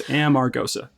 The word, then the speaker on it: Amargosa: it's a nice way to remember how to pronounce it it's Amarosa okay so if uh what is the origin